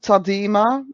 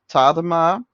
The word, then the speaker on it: Tadema: used to call him tadima but then i found out that he was actually born in the netherlands so his name would be pronounced tadama but just to make